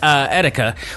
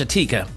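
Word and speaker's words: Etika: the unfortunate death of youtuber Etica which I pronounced Atika now granted that's not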